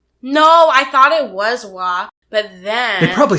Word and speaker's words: Waugh: I think Evelyn Waugh is spelled the same, so it's probably Waugh. No, I thought it was Wah, but then...